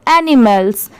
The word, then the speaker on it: animals: इससे बहुत सारे लोग माल पढ़ते हैं, बट यहाँ पर इसकी साउंड क्या है? मैल की है, तो ये एनी हो गया, ये मैल हो गया और S लग गया तो मैल्स। अब जब इन दोनों को मिला देंगे तो एनिमल्स।